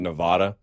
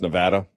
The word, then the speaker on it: Nevada: Apparently, I've always been mispronouncing Nevada. I've been calling it Nevada, and they get real bitter. Apparently, it's Nevada.